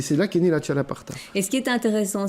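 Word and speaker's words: txalaparta: Il s'appelle le chalaparta, je crois que je prononce bien. Vous parlez basque, Ouais, tout à c'est fait. Donc c'est le X, c'est ch.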